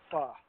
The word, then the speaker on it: pho: It's a faux restaurant.